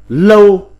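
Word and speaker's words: 樓: Âm Hán Việt đọc là lâu.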